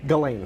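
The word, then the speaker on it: Ghislaine: All right, tell me again how you pronounce her name. Ghislane. Ghislane.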